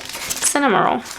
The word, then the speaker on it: Cinnamoroll: Cinnamoroll.